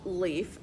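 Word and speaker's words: Leif: If we talk about this kind of leaf, it's spelled L-E-A-F. But here when it's spelled L-E-I-F, that is a person's name.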